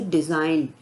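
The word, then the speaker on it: design: नहीं कर रहे हैं इसी तरह से डिजाइन डी ई एस आई जी एन तो यहां पर भी एन से पहले जी है इसलिए हमने जी को साइलेंट कर दिया है तो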